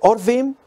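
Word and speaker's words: עורבים: letras tienen diferente pronunciación pueden pronunciarse orvin y significan cuervos cuando se pronuncia harbín significan árabes de qué trata esto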